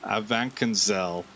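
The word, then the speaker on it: Avanchnzel: say that it's like it's missing a vowel a vancanzel west of lake henrik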